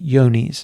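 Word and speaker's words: Johne's: for BVD and for a disease called yonis is the way it's pronounced and um so we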